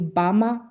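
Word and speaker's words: Gbemre: I'm pronouncing this correctly, I would say Bama versus Shell case in Nigeria, but it's spelled with a G, but yeah, that case.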